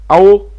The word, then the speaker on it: ào: se être prononcé, c'estàdire comme dans hôpital, comme dans repos. Donc AO alors AO qu'est-ce que ça signifie ?